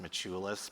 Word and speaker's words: Maciulis: And um I uh by the way, I know that in Lithuanian my last name is actually pronounced Machulus, but That's not the way they said it in Cleveland, Ohio when I grew up.